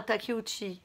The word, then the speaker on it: Takeuchi: plus noble qui en cure samouraï revenons à takeuchi mon nom qui s'écrit comme intérieur de bambou qu'est ce que